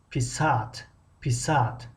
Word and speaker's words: писать: میگذاریم با یک کلمه دیگر پیسات. خب اینجا ادرین خیلی مهم است که هجای آخر رو بکشیم پیسات. اما اگر هجای اول رو یک کمی بلند تلفظ کردیم و که درازتر کشیدیم معنا تغییر می‌یابد.